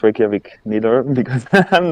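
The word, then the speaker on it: Reykjavík: How do you pronounce it? It's Reykjavik.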